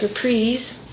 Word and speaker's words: Reprise: I just signed my contract with Reprise. That's Reprise, not Reprise. I learned how to say it right, too.